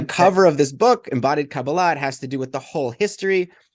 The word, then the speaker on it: Kabbalah: So I pronounce it Kabbalah, but Kabbalah. I'm open to different pronunciations. That's sort of a more modern Hebrew pronunciation. Kabbalah is more Ashkenazi, from sort of the Eastern European Jewry.